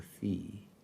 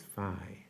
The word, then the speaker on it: Fye: I thought it was Fee. It is Phi, huh? Okay. Yep. That's kind of important. Yep. Commissioner Fye.